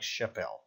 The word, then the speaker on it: chapéu: Where the L is, I have no idea, but you have to pronounce this word like chapéu.